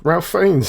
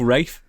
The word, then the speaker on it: Ralph: r f f find you said Ralph FS do you know what because it says Ralph and I've got a dog called Ralph and he just makes me think of Ralph oh yeah well start calling your dog Rafe please Rafe come here